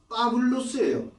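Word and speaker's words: Παῦλος: 바울이 아니고 빠블로스예요.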